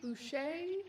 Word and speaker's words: Bucci: He also apparently pronounces his name Boucher, despite the fact that it really, really looks like Bucci written down.